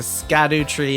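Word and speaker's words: Scadutree: On that note, it is time for us to Scadu tree on out of here. So, Kirk, Maddy. That was the correct pronunciation.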